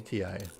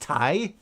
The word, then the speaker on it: Ti: Hi, is it pronounced Thai? Oh, I always pronounce it as Ti. No, it is pronounced TI because it stands for titanium.